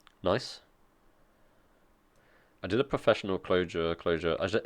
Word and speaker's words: Clojure: I did a professional Clojure. Is it pronounced Clojure, like with an S? Or Clojure. I imagine the j is like j, Clojure, like French.